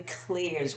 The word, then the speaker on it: clair: We have the clears, which is French for clear, C L E A R, and it's spelled C L A I R.